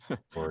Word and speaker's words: Oregon: Party at Adam's house next time you're in how do you correctly pronounce the name of your state? Oregon.